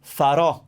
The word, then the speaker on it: faro: left to the bottom right will open up a sound so faro faro lighthouse faro i will do it's